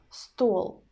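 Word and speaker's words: стол: We pronounce L in the end hard. Stole, stole. And the same situation with coat, coat, hard consonant sound in the end.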